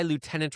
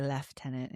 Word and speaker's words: lieutenant: It's just Canadians pronounce it left tenant.